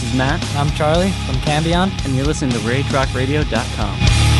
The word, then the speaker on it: Cambion: Matt Conton back with you again this week and my guests are this time are two of the members of Cambon.